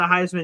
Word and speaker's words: Heisman: He changed his last name for the Heisman campaign to rhyme with Heisman.